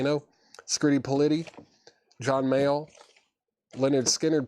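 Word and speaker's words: Lynyrd Skynyrd: Skirty Pity, John Male, Leonard Skinnard, pronounced Leonard Skard, Mothers as in like Frank Zappa, Alice Cooper, Looking for Mr.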